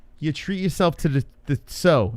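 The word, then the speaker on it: Tso: treat yourself to the so. Is it so or cho? How do you say it? I think it's cho. People say it differently. Even Chinese people don't know. I say cho.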